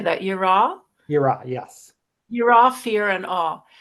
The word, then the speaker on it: Yirah: Yirah, yes.